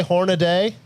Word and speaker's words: Hornady: How do you guys pronounce that company that makes Hornady. that? Hornady. How do you say it? Hornady. Hornady. Hornady. Yeah. Some people say Hornaday. Some people say Hornady.